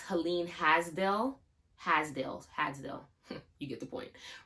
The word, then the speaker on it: Helene Hadsell: So most of you probably know about the person, I think her name is pronounced Helen Hadsell.